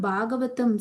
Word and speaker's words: Bhagavatam: Now, what does that word Bhagavatam stand for? It actually has 4 syllables in it.